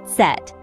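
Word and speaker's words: Zett: Finally, we have Z, pronounced Set.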